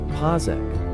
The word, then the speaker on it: Pazik: There, we're sticking with the actual spelling of his name Pazik, but it is pronounced Pazek.